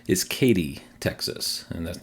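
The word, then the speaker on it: Katy: it's seille and then the last one not caddy which is how I thought it was pronounced I think I heard someone pronounce it that way and I just assumed that was correct is Katie Texas and that's not X should be Texas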